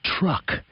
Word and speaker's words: truck: to make the word truck it's a difficult word with the T and R sounds at the beginning the u sound in the middle and the C Sound at the end TR uh if he